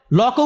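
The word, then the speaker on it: Locke: তো আপনি এই সামান্য জিনিসটা পড়লেন না, সবাইকে হবস লক পড়তে বলেন, লকও উচ্চারণ করতে পারেন না উনি, লক্স বলেন। লক্স বলতে কেউ নাই পৃথিবীতে। লক আছেন, জন লক, একজন বিখ্যাত দার্শনিক।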